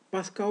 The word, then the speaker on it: Pascal: Pascal Bernardin, se escreve Pascal, não tem nenhuma dúvida, né?